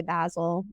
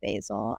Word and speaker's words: Basil: of Mrs basy franker some people say basil I say basil uh because I did